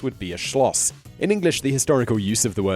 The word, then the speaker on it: Neuschwanstein: house, would be a schloss, such as Schloss Neuschwanstein (pronounced ‘noi-svhaan-styn’).